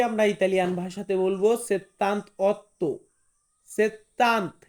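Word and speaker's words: settantotto: বলবো সেত্তান্ত অর্থ সেত্তান্ত এটা কিন্তু সেত্তান্তা না আমি বারে বারে বলতেছি 18 28 তার পরবর্তীতে যত আটের ঘর আছে এটাকে হবে সেত্তান্ত মানে সেত্তান্ত প্রত্যেকটা হবে না প্রত্যেকটা ওই যে সেত্তান্ত আটা হবে না লাস্টে সেত্তান্ত্ব মানে হচ্ছে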